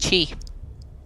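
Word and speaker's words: xi: is a word and it's actually pronounced Chi who would have known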